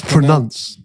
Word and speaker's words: pronunciation: something did you know did you know it was prun I thought it was you pronounce your words yeah it's pronunce pronunciation so I I genuinely didn't